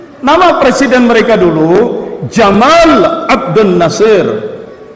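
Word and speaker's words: جمال: Abdul Nasir itu ya Jamal panjang artinya ganteng mereka tapi kalau dibaca pendek Jamal dia baca Gamal Gamal itu yang masuk ke bahasa Inggrisnya jadi kabel onta Maka kalau punya teman namanya Jamaludin Anda harus panggil panjang Jadi manggil si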